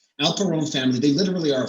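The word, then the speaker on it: Alperon: the next guy's name it rhymes with al capone alpha rome family they literally are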